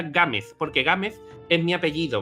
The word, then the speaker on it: Gámez: Gámez, porque Gámez es mi apellido, ¿vale?